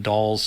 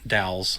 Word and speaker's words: Dal: to call this one doll's first dowels is probably a better way to pronounce that dowel's first quest by